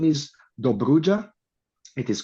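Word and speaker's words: Dobrudja: And the name is Duja.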